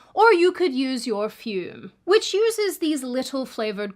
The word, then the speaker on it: Fume: Fume rhymes with broom.